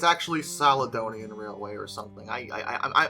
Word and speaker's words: Caledonian: I I I I think it's a hard C, but it might be uh it might be a a soft C. You know, C's are funny like that, but I think I I always thought it was Caledonian, so I'm going to go with that.